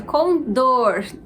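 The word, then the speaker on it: condor: 18 a gente tem a palavra com dor Essa é a pronúncia com dor então a sílaba mais forte é dor logo a gente tem uma palavra oxítona 19 saúde claro que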